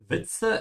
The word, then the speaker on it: Witze: Witze is the plural of der Witz, joke. Remember to pronounce the W like a V, yeah. And the Z is a TS sound like cats, Witze.